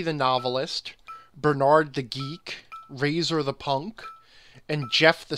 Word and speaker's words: Razor: he pronounces the O in Razor very, very clearly. It's Razor, not Razor.